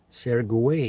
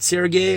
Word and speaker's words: Sergei: Whereas if I just write it Sergey as like common, you know, S-E-R-G-E-I, I'm telling you, it's Serge, Sergei, Sergey, Sergey, you know, because again, there's G-E, and most people read that as a J, you know, and so